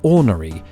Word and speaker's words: ornery: overwhelmingly the norm yet roughly a third of you don't pronounce the first are in ornery how could this be did